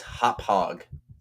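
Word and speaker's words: Hauppauge: that uh last guy's like hometown name is pronounced? My mom just texted me. It's Hop Hog.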